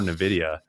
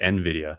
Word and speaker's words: Nvidia: Bitcoin temporarily hit right above Amazon here be uh before Nvidia. Um sorry, Nvidia. I always mispronounce that.